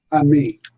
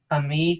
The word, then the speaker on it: Ammi: Um, is it how is your last name pronounced? Ami. Ami.